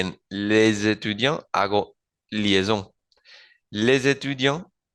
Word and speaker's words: étudiant: Y lo mismo con étudiant, étudiant y con étudiante, étudiante. Bien, ¿qué quiere decir esto?